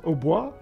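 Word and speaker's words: hautbois: instrument is an OBO in French it's Oba and that means high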